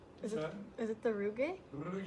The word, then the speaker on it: rugae: Is What's it the rugae? Rugae. You gotta roll your R's.